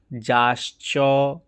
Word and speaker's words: যাশ্চ: যে যাশ্চ কি করে উচ্চারণ হলো নিচে দেখুন, জ যুক্ত স যুক্ত চ, তাহলে কি হলো? যাশ্চ।